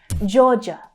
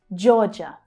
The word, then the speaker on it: Georgia: So starting with the J consonant sound, J as in jam, then the O vowel sound, jaw, jaw. Then we have the second syllable, which includes the unstressed schwa sound, J, J. Georgia, Georgia, Georgia.